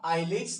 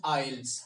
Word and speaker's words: IELTS: First of all, friends, please understand this is not IELTS, this is IELTS. How do you pronounce it?